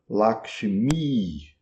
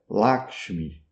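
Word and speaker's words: लक्ष्मी: Mesma coisa para o nome da deusa Lakmi. Em sânscrito. É um I longo no fim. I, se você pronunciar em rinde, é laxmi. Mi, mi mi, um i curto no final.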